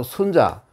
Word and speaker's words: 순자: 순 수 혼자가 아니고 순자 순자 라 옛날의 그 어떤 대통령 하는 사람이 많으나 보이아 보이는 이름의 순 잔다 이거는 짧게 순자 라고 읽어요 순 자 그럼 기획의